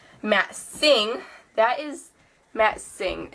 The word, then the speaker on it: Singh: thing that is matt singh in case any of you guys don't know how to pronounce that that is pronounced sing i want to say